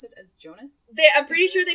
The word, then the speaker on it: Jonas: it done' Jonas Jonas pretty sure it's Jonas but I think I just started calling him Jonah I don't know you listen to it I they pronounce it as Jonas they I'm pretty sure